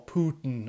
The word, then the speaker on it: Putin: he has just interviewed Vladimir Putin or Putin as the Americans say now before I get